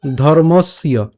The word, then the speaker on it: ধর্মস্য: এখন এই যে জফলা আছে, জফলার উচ্চারণটা আমরা কার মতো করি? ইয়র মতো করি। তাই উচ্চারণটা কেমন হবে? ধর্মস্য, ধর্মস্য।